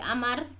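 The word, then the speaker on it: عمرو: Nah, di sini an Abi Amrin, hadis diterima dari Abi Amr. Kalau ada wawu ini dibacanya Amr, kalau tidak ada wawu dibacanya Umar.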